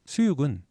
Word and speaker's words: 수육: 것 알면 되겠습니다 그다음 수육은 이킬 숙자를 씁니다 이힐 숙자 요게 요기입니다 그래서 원래는 발음이 숙육 이렇게 되는 겁니다 고기를 익혀서 먹는 것